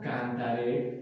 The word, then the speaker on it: cantaré: Cantaré correctamente. Cantaré. Ese acento en esa E también es muy importante.